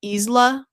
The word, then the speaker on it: Isla: which by the way is it seriously pronounced Ela? That's how it's pronounced in the movies. And I guess I've just been saying that wrong. Um I thought it was pronounced more like isle, you know, like the aisle of sky.